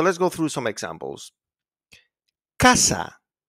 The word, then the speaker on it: casa: So it's pronounced like a K when it's followed by an A, O, or U, like in casa, coche, and cucaracha.